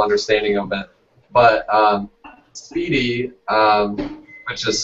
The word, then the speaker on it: SPDY: a beginner's level understanding of it but um speedy um which is spelled sp spdy i think um is uh